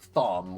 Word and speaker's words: Thom: supposed to be pronounced tom it's like short for thomas you know razor talons the razor